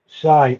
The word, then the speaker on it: Psy: Uh, Psy Intuitive. Shy. Okay, okay, that's how you say it.